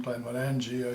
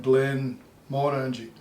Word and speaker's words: Glenmorangie: If you look at the title of Glenmorangie, it's written as one word, Glenmorangie, and that would certainly be how they pronounce it in Glasgow. But if you're up in that neck of the woods, they would put a pause between the Glen and the Morangie, so they would call it Glenmorangie, even though they